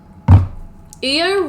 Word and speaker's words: Io: quickly unlearn Neo basically IO rhymes with Neo IO why to be